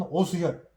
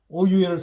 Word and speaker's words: 오유혈: 사암침법, 그리고 흔히들 알려지는 오수혈 방법이 있다. 근데 이제 제가 얘기하는 것은 이 오수혈은 일본식 발음이고 일본식의 용어니까 오유혈을 써라.